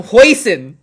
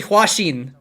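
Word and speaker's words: Hwasin: oh my gosh i i called him hoisin for so long it's actually hwashin and i called him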